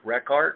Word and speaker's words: Rekart: Bruce, by the way, while you're commenting, put my name down again, Rekart, R-E-K-A-R-T.